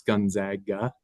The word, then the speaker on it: Gonzaga: Um it's the big basketball school that everyone uh seems to mispronounce their name. It's Gonzaga.